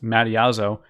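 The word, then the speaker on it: Mattiazzo: amateur astronomer Michael mom I believe this name is pronounced Madi as oh and Australia discovered comment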